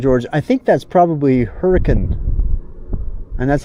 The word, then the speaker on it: Hurricane: I think that's probably Hurricane. And that's how they say it, by the way. It's spelled hurricane, but they say hurricane.